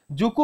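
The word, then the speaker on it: Dzuku: নাগাল্যান্ডে এবার এই যে জুকু উপত্যকা যে স্পেলিংটা কিন্তু ডি জেড ইউ কে ইউ ডি টা কিন্তু উচ্চারণ হয় না ভালো করে বলছে কিন্তু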